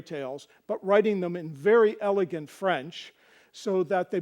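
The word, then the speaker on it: vair: One is V-A-I-R and the other is V-E-R-R-E. Both are pronounced ver.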